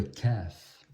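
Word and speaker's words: ك: La lettre qui suit, c'est le Kaf. Et ça, maintenant, c'est le K du français.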